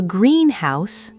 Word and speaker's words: greenhouse: A greenhouse, stressed heavily on the first word, referring to a building where plants are grown.